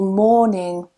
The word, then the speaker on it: morning: That's one thing you'll also notice, that in morning we don't pronounce that R in British English. There are some varieties where they do pronounce that R, but in standard RP they don't.